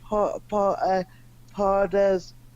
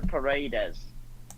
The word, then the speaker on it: Paredes: I can't pronounce his last name. Pardes. When he was sent off, it was not. Leandro Paredes.